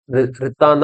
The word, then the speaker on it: Nritta: இதை நம்ம ப்ரொனவுன்ஸ் பண்ணும்போது ரித்தான் தான் ப்ரொனவுன்ஸ் பண்ணணும்.